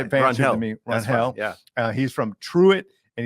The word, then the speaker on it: Rangel: Rangel.